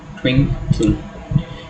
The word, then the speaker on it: twinkle: So while pronouncing twinkle, we stress on the first, we emphasize the first syllable, we say twinkle, not twinkle, right? So the first syllable gets a stress.